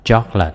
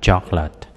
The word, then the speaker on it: chocolate: Chocolate, là sô-cô-la, chữ này mình đọc là chocolate, hai âm thôi các bạn, chocolate, chocolate.